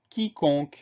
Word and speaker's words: quiconque: Première syllabe qui, Q-U-I. Donc là, le son Q, c'est Q-U. Deuxième syllabe con, C-O-N. Le son Q, c'est le C suivi du O. Troisième syllabe que, Q-U-E. Donc là, dans ce mot-là, on a trois sons Q.